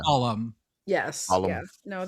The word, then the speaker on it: Balham: I wanted to call it Balham, but I'm going to guess it's Balham. Yes. Yeah. No, they don't pronounce the ham usually.